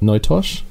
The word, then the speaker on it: NoTosh: a bit about yourself and a bit about notosh is that how you say it no tosh that is how you say it although it's